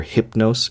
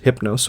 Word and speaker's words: Hypnos: so you will hear hypnos and hoos alternatively one is the more English pronunciation of the Latin form and then the other